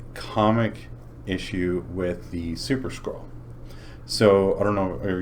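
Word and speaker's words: Skrull: They they battle I was thinking like a scroll like No, scroll. Or s k r u l l. Yes. Like skull with an r.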